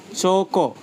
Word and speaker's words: chocolate: Chocolate. They were stressed firmly on the first syllable.